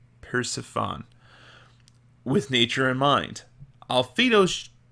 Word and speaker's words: Persephone: I think I mispronounced that word. Persephone. Persephone.